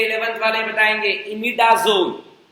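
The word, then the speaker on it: imidazole: और एक और रिंग होती है 11th वाले बताएंगे, इमिडाजोल। झोल वाला झोल नहीं, इमिडाजोल।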